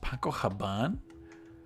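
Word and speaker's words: Paco Rabanne: olympia paco paco haban did you know it's pronounced paco haban i didn't know that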